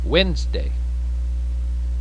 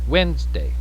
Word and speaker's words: Wednesday: repeat tuesday tuesday repeat wednesday wednesday notice that the e is silent and the d is very soft and we just kind